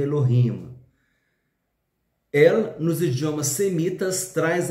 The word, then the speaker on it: Elohim: é Elohim ou Eloim Vamos ler Eloim mas a a pronúncia certa seria Elohim El nos idiomas semitas